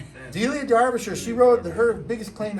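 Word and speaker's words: Derbyshire: I mean, it's spelled Derby Shire, but they say Darbisher, Dia Darbisher.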